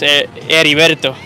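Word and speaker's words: Heriberto: Guerrero Eddie Guerrero no it's Edie verto h e r i just in Spanish it doesn't make a sound H pray over it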